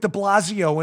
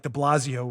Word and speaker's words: de Blasio: speaking of morons like de blasio rhymes with defazio why is new york